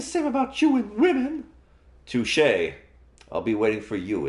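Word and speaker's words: touché: an ass sound so it's going to be touche and that's not how the the word is spelled is pronounced it's touche after a delicious breakfast you're ready to start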